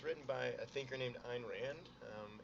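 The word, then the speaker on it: Ayn Rand: um and like I said it's it's written by a thinker named Ein Rand again I've heard I've heard pronounced and Rand iron Rand uh and she lived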